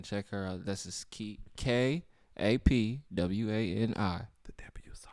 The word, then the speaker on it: Kapwani: This is Kapwani. The The W silent. The W is silent.